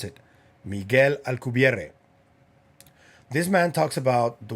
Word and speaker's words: Alcubierre: That is Miguel Alcubierre. That's how you pronounce it. Miguel Alcubierre.